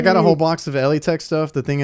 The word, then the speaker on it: Elitech: It's actually not Elitech. Everybody's been pronouncing it wrong. It's Eli Tech.